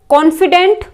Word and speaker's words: confidant: Next है कॉन्फिडेंट और कॉन्फिडेंट, same pronunciation है, ठीक है, कॉन्फिडेंट एंड कॉन्फिडेंट।